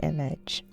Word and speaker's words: image: Image. Stress on the first syllable.